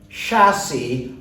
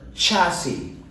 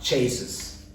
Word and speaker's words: chassis: so it is open the last word is pronounced as chassis or chassis means the altar framework of a vehicle is known as a chassis or chassis and not chases all right so that brings us to the